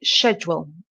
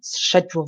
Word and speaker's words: schedule: new work schedule okay so schedule for British and schedule for Americans so I think shed shed shed for br and SK schedule SK SK sound let me know if